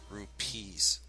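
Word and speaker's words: rupees: off the rupes sorry I need to say it right r u p e e s rupes kind of like the currency used in the Middle East or parts of the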